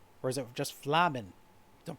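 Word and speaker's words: F'lhaminn: Flahaman? Is that how it's pronounced? Or is it just Flamen? Don't pronounce the H. Flamen was her name, though you may know her better as the Songstress of Ul'dah.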